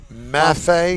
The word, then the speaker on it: Maffei: And the controversy, this is Mafia Maff How do you pronounce that? Maffei Maffei versus Andretti.